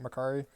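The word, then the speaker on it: Makkari: lot the same with makari is it that's he pronounced it makari yes the speedster she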